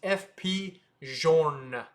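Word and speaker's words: F.P. Journe: banger, and that is FP Journe. It's not Journe, it's Journe. FP Journe. So, you could say it however you want. People will understand what you say, but it's FP Journe.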